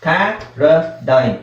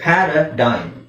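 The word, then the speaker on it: paradigm: ಪ್ಯಾರಾಡೈಮ್, G silent ಆಗಿರುತ್ತೆ. ಪ್ಯಾರಾಡೈಮ್.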